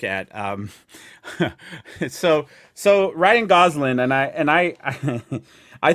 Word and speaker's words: Gosling: goslin as uh ken goslin is that how you say it is that how you say it gosling yeah i got yeah i wish